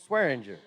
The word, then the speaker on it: Swearinger: Assistant Coach Swearinger. Ha! That's the Washington County pronunciation of that name.